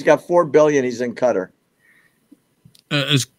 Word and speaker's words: Qatar: four billion he's in Cutter is it's pronounced cutter okay yeah so H